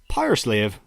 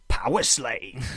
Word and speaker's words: Powerslave: Which is Powerslave, as I pronounce it, or as Bruce Dickinson pronounced it, Powerslave.